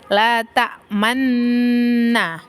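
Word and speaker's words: تأمنّا: inahuun nah di eh kalimat l Manna itu dibacanya e ada jeda untuk mencucu jadi bibirnya itu harus eh maju ke depan dan ke belakang lagi untuk menyebutkan la ta Manna Manna Nah itu adalah bacaan ijmam yang selanjutnya adalah tashil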